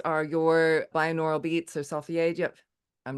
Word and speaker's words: Solfeggio: You deal with, I hope I'm going to pronounce this correctly, Solfeggio frequencies. Is that right? Solfeggio.